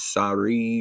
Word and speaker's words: Sarai: And God said unto Abraham, and I guess I've been pronouncing her name wrong the whole time. I've been calling her Sarah the whole time. I guess her name is Sarai or Sarai, thy wife.